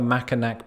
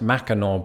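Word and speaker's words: Mackinac: include other behemoths like the makanak bridge which for any uncle toby's out there is pronounced mackinaw bridge hard pronunciations are going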